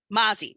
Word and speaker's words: Mozzie: What's the correct pronunciation, Nesha? Mozzie.